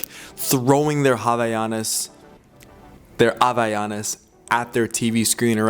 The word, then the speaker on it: Havaianas: were commenting, Drew, give the Brazilian, the Portuguese way, like a pronunciation.